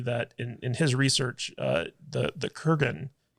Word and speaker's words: Kurgan: for the character, that the Krugen, is that how you pronounce it? Kurgan.